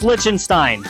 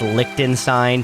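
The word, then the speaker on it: Liechtenstein: place called again lichenstein it's lichenstein and yes after recording this video I did learn that it's pronounced lonstein everybody laugh at the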